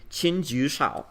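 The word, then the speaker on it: Qin Jiushao: little Chinese gentleman um whose name is pretty unpronounceable but I'll try it in chinju chin q i n ju Xiao j i u s h a o d s h a o and he was around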